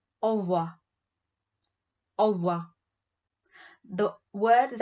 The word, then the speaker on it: au revoir: And when you have to say goodbye, you'd say au revoir. Au revoir. The word is actually au revoir, but the revoir, the re is really silent, so it always sounds like au revoir.